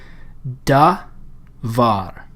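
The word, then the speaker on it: דָּבָר: The way we pronounce that is da-var, because this syllable here starts with a consonant. It ends with a vowel. This syllable starts with a consonant. It has a vowel, but then we have another consonant. So it's a closed syllable.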